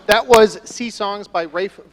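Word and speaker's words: Ralph: was Se songs by Rafe Williams which is actually how you pronounce his name as he is very English and this year that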